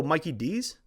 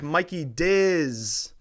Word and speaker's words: Mikey DZZZ: She said, oh, Mikey D's? And I said, yes. And thank you for pronouncing it right.